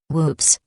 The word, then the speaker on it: WPPSS: on July 25th 1983 wppss pronounced with mob humor whoops announced that it was